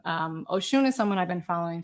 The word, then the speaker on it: Oshun: So Oshun is this, it's Oshun, and you pronounce it Oshun with the emphasis on the shun. It's not ocean, although it's kind of a nice.